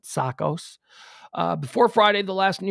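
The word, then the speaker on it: Tsakos: i'm pronouncing that right it's greek it's t-s-a-k-o-s so the t is typically silent sakos before friday the last new york pd officer killed in the line of duty was anastasio's sakas sakos who was struck by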